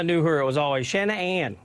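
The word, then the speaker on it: Shann'Ann: her it was always Shannon Ann like and I'd break it up into two syllables and two separate things you know um so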